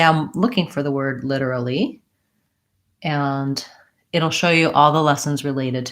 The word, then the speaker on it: literally: it I would say the main difference for literally is that the T sound is a flap we do a sound literally I do have a